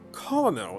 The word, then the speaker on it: colonel: But I just recently learned that colonel is actually a colonel. Colonel. Indeed, despite how it's spelled.